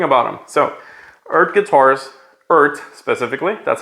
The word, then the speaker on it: Eart: them so earth guitars earth specifically that's how it's pronounced not e-a-r-t not ert it's pronounced earth stands for electro acoustic